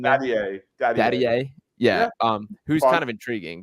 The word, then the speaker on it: Dadiet: Isaiah Collier, Yves Missy, Pacoma Dadiet is, I believe, how you say his name. Dadiet.